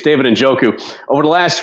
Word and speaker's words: Njoku: To pronounce it correctly, it's David Njoku.